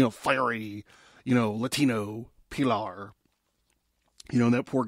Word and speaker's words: Pilar: They straight up call her, they say her name is Pilar, which is like pillar.